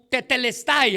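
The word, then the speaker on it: τετέλεσται: En el griego, Juan usa una expresión ah que pudiéramos pronunciar en nuestro idioma como tetelestay.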